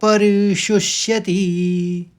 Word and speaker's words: परिशुष्यति: शब्द च है और परिशुष्यति श में शब्द का कटे पेट वाले श का आपको उच्चारण करना है परिशति परिशुष्यति दूसरे चरण को समझिए मुखई च परिशुष्यति तीसरे चरण में भी